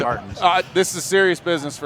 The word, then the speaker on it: Martens: Everybody says Martinez or Martins. Let me tell you, Martins.